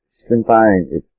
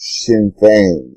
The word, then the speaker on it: Sinn Féin: It's not Sinn Féin, it's pronounced Sinn Féin, and she doesn't seem to know that, but she is an expert, and she's interviewed them.